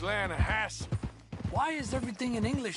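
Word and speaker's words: Lannahechee: river no no no no no the the lana hatchy it runs right near here yeah but it's pronounced land hassle why is everything in english said differently than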